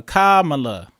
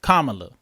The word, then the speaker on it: Kamala: all right uh oh so it's K like coming uh like Allah so Kamala Kamala so yeah it is